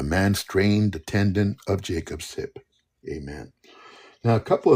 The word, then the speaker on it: Jacob: First of all, the name Jacob in Hebrew is Jacob. Okay, Jacob. Yaaqob. Jacob.